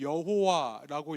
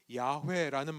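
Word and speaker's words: 야훼: 우리가 이것을 여호와라고 읽었습니다만 정확한 말은 주님 혹은 야회라는 말입니다.이 이 야회라는 이름이 주님이라는 이름이 여기서부터 나왔습니다.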